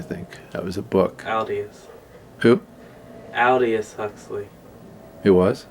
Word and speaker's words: Aldous: Aldous.